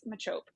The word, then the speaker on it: Machop: is it macho or is it machop because i always want to call him the pokemon the chop right like i just it's shelled the same okay it is spelled the same um i have that pokemon card um i have it holographic oh yeah look at me first edition baby um but no i think it's machope because whenever i've heard